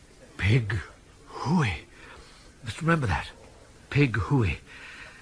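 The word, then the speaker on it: Pig-hoo-o-o-o-ey: The first syllable should be short and staccato, the second long and rising into falsetto, high but true. Pig hooey. Try it. Make it strong. Pig hooey. More body to the who.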